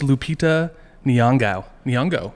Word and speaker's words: Lupita Nyong'o: She has a hard pronunciation. Better. It's Lupita Nyong'o. Okay. Lupita Nyong'o.